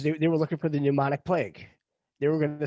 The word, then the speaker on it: pneumonic: they do have the pneumonic plague uh listed wow it starts with a P it's PP pneumonic the p is silent so using math we'll